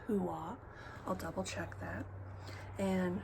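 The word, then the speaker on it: Huath: It's spelled like hueth, but I believe is pronounced hua.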